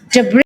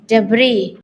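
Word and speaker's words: debris: Al Only to 400 debr loh bacanya snya gak dibaca loh debr heeh jadiad snya gak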